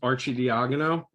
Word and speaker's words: Arcidiacono: My last name is pronounced Arcidiacono.